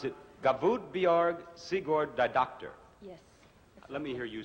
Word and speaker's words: Guðbjörg Sigurðardóttir: You pronounce it Gavudbjorg Sigurd Didoctor. Yes. Let me hear you say it. Guðbjörg Sigurðardóttir.